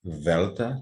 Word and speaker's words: delta: Aqui está o alfabeto grego, eu vou pronunciar com com a forma Koiné, seria assim, alfa, beta, gama, delta, com a língua entre os dentes, epsilon, zeta, eta, theta, também interdental, iota, kappa, lambda, mu, como um i francês, né?